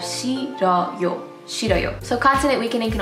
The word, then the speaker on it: 싫어요: The H is weakened and the 르 sound moves over to the second syllable, so you have 싫어요.